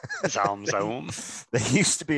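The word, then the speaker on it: ZA/UM: Is that how you pronounce it, Zaum? Yeah, that's about as close as I can usually pronounce it. Zaum, Zaum.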